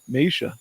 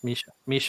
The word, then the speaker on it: Misha: How do you say her name? Meisha. Is that it? Misha. Yep. Misha. Okay.